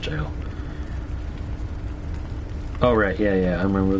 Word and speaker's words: gaol: what that is hypogeum gaol jail actually it's just pronounced jail alright yeah yeah I'm